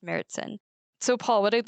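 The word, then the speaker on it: Märzen: we Brew our seasonal Oktoberfest beer which is pronounced mertzen um it's spelled marzin uh which is embarrassing because that's how I've been ordering it but it's pronounced meritsen so Paul what I'd like to do now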